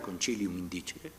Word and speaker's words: concilium indicere: Entonces, celebrar cortes, pues crean una palabra, un sintagma que es concilium indicere, o si queremos pronunciarlo con la pronunciación italiana, concilium indicere.